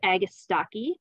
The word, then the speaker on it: agastache: Our next perennial is hyssop, also known as agastache. That's how I pronounce it.